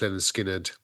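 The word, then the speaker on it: Lynyrd Skynyrd: 1973 with their first ALB pronounced Leonard skinnard um and just classic after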